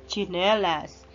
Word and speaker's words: chinelas: Yan, magkasunod na konsonant o katinig ay T at saka S. Ch-ch. Ang bigkas niya ay chinelas.